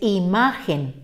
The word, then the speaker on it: imagen: cuenta porque no debe llevar la que es imagen tres sílabas terminen n y como su corazón como